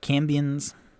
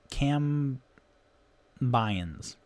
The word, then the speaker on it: cambion: a place of prominence cambions cam bion cam bayens oh boy there's a